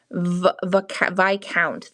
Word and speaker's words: Viscount: Viscount. The S is silent.